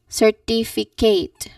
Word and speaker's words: certificate: So the common mistake people say is that certificate sometimes with the stress in the wrong place. Certificate. Certificate. Certificate. Certificate. So you should stress on the second syllable like certificate. Certificate.